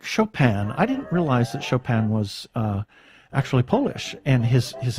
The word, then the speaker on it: Chopin: I didn't realize that Chopin was actually Polish, and his name is It's actually Chopin, if I'm not. But the Chopin, that's a French pronunciation. Yes, that's the French pronunciation, but Polish is Friedrich blah, blah, blah.